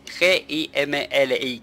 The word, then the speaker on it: Gimli: Es G-I-M-L-I, Gimli.